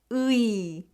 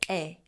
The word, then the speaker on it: 의: When 의 is used as a possessive particle, meaning of or apostrophe s, it's pronounced as 에.